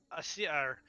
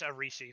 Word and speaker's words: Arisi: Her name is actually Asiri. Asiri. Asiri? Or Kalinoth? Or Arisi. Sorry, it's Arisi. That's how it's actually pronounced.